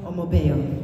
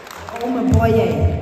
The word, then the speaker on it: Omoboye: So can people give a big hand to Miss Omobeo? Omoboye, I have to pronounce that correct because sound is power.